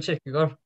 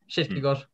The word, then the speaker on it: Kierkegaard: In Danish, it's probably more like what I pronounced. It's how you would say it in Norwegian. Kierkegaard.